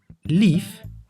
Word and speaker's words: lief: the the letter E the e as short vowel is pronounced as e and as long vowel as e Kip means chicken Leaf means lovely now the